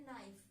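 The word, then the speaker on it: knife: जैसे कि मैंने यहां पे लिखा है नाइफ। नाइफ में अपना के साइलेंट है और हम क्या है? एन आई एन टी को प्रोनाउंस करते हैं।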